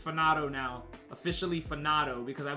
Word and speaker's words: Fanato: It's FANATO now, officially FANATO, because I believe it's supposed to be pronounced as FANATO.